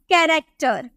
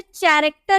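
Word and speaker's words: character: देखने को मिला तो इसे कैरेक्टर नहीं बोलेंगे इसे करैक्टर बोलेंगे क्या क्या ठीक है कैरेक्टर नहीं करैक्टर और कुछ देखते हैं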